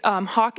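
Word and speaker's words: Hock: I think you said your last name is Hoff. Can you spell that for us? Because we had a different last name. It's Hawk, H-O-C-K.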